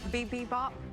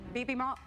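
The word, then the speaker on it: 비빔밥: This is a coconut jasmine bibimbap. Bibimbap, bibimbap, bibimbap, bibimbap. I have no idea. I mean... Sorry, can you tell me how to say it correctly? Bibimbap. Bibimbap.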